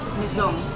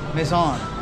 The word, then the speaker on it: Maison: S Maison, how do you pronounce it? Maison. Maison.